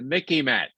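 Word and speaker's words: MICIMATT: right here it is the Mickey mat it Rhymes in a little bit with Mickey Mouse that's how you might remember it okay they make aim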